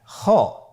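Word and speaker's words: خ: খ হরফটির মাখরাজ হলো কন্ঠনালীর শেষ ভাগ হতে উচ্চারণ করতে হয়।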